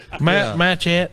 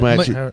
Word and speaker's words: machete: Machette, is that how you say it? Machete.